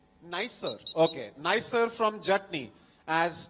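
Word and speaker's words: NISER: Nisar or N-I-S-E-R? How do you say it? Nicer.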